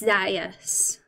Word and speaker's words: Zaius: Does it rhyme with Gaius or not? And I think he says it doesn't rhyme with Gaius, so it's. That means it's Zaius, doesn't it?